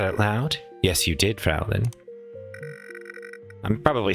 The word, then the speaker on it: Fräulein: Yes, you did, Fraulein. I'm probably saying that wrong. Hold on. Hold on. Fraulein. Pronunciation. How to say it. This video is a minute long. Fräulein.